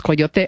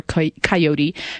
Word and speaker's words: coyote: is talking about Coyote, I'll give you a combination pronunciations, Coyote or Coyote Comedy Cabaret that's coming